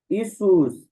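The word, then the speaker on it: Ἰησοῦς: उसके बाद है यशु मसीह यानी कि जीसस इसुस इसूस। ठीक है? इसुस इसको कट भी इसुस भी बोल लेते हैं।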